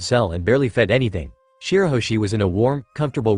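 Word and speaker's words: Shirahoshi: "It's Shiroshi, Luffy, not Shibaoshi," he corrected, the youngest's face scrunching in confusion.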